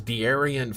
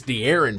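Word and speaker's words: De'Aaron: like dearen Fox and he goes dearion Fox and I was like it's it's dearin Fox he goes whatever there's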